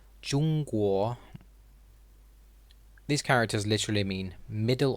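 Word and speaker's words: 中国: called pinyin and looks like this this is pronounced jungkook these characters literally mean middle or center and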